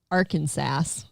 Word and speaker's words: Arkansas: I go, are we supposed to pronounce the S? Hey, check it out. Arkansas.